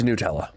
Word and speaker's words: Nutella: I only recently saw a post on the internet about the different pronunciations of Nutella. It's Nutella.